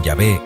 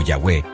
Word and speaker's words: Yahvé: La pronunciación Yahvé o Yahweé es una reconstrucción académica que viene de antiguos testimonios y análisis lingüísticos.